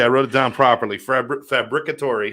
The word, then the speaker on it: Fabbricatore: that would be impossible does anybody get it right right off the bat uh the other Italian your occasional Italian or or uh Spanish people might say it right from time to time oh really yeah yeah